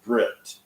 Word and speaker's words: brit: as an S sound whereas in Safari Hebrew the Seminary is called a Brit the top without a dagash is pronounced t okay so now we're